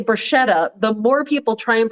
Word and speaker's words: bruschetta: just tell your friends it's not actually pronounced bruschetta once a guy on a date actually like corrected me but it's like a k right like a yeah well there's not a k in the italian alphabet but it's ch but